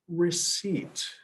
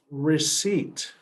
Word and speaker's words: receipt: So it doesn't go by the normal English rules, but it's called receipt. This is receipt. Receipt. Yeah. So that C sounds like an S, and then the P is silent, so it's receipt.